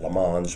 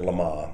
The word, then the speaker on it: Le Mans: heard of Lama in France typically West questioners pronounce it Lans because it looks like that but the French pronounce it Lama and um so 1960 even though the races